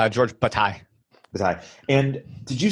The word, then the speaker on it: Bataille: You're doing a course on how do I pronounce his name? Yeah, that's right. George Bataille.